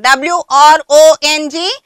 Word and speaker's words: wrong: Right, wrong, W-R-O-N-G, wrong. Here, children, W-R-O-N-G, wrong means W is silent. W is silent, but we are supposed to write W.